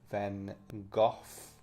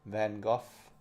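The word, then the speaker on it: Van Gogh: The famous Starry Night by Van Gooff or Go or however you supposed to say his name. I think it's Gooff. Go Goff. Van Go.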